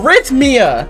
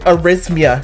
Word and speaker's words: arrhythmia: ready are heimdia oh rich mia that's what it's that's how you say it project arrhythmia there we go i